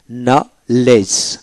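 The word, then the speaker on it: knowledge: যেমন নলেজ, নলেজ কেন ডব্লিউ এল ই জি নলেজ, ডি উচ্চারিত হবে না।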